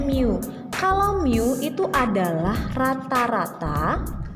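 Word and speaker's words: μ: ya mirip seperti ini Ini bacanya Miu kalau Miu itu adalah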